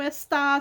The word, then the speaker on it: está: Quantas vezes eu tenho que falar para vocês, coloquem acento no está, senão fica esta.